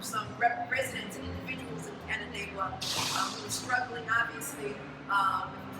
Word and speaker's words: Canandaigua: Cayuga Dagun, did I say that right? How do you say it? Canandaigua.